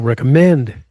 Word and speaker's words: recommend: Stress on the third syllable. recommend that C pattern C regular.